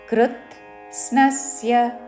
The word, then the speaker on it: కృత్స్నస్య: జగత అహం అనుస్వరమ అంగుచ్చారణ కృత్ స్నస్య కృత్ అని ముందు పలికి పొల్లుతాో తర్వాత స్నస్య సా కి నావద్దు దానిలోని నా మీద ఆఘాత పలుకుతూ స్నస్య కృత్ స్నస్య అహం కృత్స్నస్య జగత జగతః విసర్గ తర్వాత పక్కన